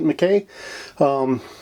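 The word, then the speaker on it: MacKay: We also have George McKay, I do believe is how you pronounce it, McKay.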